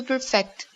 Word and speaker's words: perfect: Cecilia to perfect to perfect that's right notice that the emphasis is on the second syllable perfect perfect perfect perfect